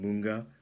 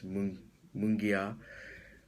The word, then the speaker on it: Mungia: a shout out to John Munga uh sorry if I pronounced that wrong it's mungia uh he has his video